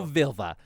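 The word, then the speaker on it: Völva: how to pronounce that because it's v o with a slash through it isn't that like a u sound i think it's an i that's an i i think i googled it and they say you pronounce it like i and sir is what they say so i'm gonna go vilva she's a vilva with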